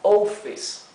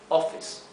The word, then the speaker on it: office: una doble F verdad Si en lugar de una doble f la palabra Office la escribiéramos con una sola F se se leería ofes ofes la o adquiriría su sonido largo ou ofes pero como la palabra se debe escribir con doble f la o adquiere su sonido corto o offes offes bien Tenemos un ejemplo